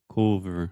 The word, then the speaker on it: cover: You were saying cover with an O sound, but this is o som do schwa. Então, super relaxed.